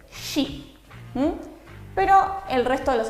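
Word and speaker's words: し: No existe el sonido si. Los japoneses van a decir shi, pero el resto de los sonidos no van a tener ningún tipo de dificultad.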